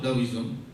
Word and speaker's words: Taoism: tidak ada reinkarnasi daoism meskipun tulisannya pakai T taoism dibacanya da dawiism ini akar pemikiran tradisional